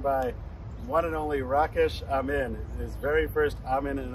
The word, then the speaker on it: Amin: Well, my last name is Amin, and you pronounce it Amin.